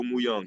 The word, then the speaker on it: Muyung: Say that one more time. yes, it's perfect. Muyung, you said it right.